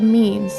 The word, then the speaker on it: meme: He derives the word meme from its Greek root mimeme, which means imitation, and tweaks it to one syllable so that it sounds like gene.